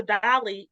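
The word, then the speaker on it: DALL-E: Well, Chat Now, since then, Chat Now has that function where I think it's called Dell or Delly. I'm probably pronouncing it wrong. Dolly. Dolly.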